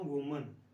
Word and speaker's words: women: अब ये ई है तो ज़्यादा होगी, तो ज़्यादा का प्रोनाउंसिएशन होता है वीमेन। इसकी स्पेलिंग जो होता है दोनों होते हैं, डब्ल्यू ओ भी होता है और डब्ल्यू ई भी होता है, तो यहाँ पर भी ई, WOMEN और WEMEN दोनों स्पेलिंग होते हैं ज़्यादा औरतों की बात करने के लिए, वो लेकिन बोलने का तरीका वीमेन ही होता है, वीमेन, औरतें, लेडीज़।